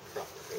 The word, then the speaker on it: croquet: What's this pronounced croquet? It's not. Like Chevrolet? Yep, according to my original text, it is very much croquet.